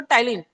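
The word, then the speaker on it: ptyalin: देखो दूसरा नाम टाइलिन, बच्चे टाइलिन देख के घबरा जाते हैं, पी साइलेंट होता है, टाइलिन बोलते हैं इसको, टाइलिन उसी का नाम है, सैलिवरी अमाइलेज को ही बोलते हैं।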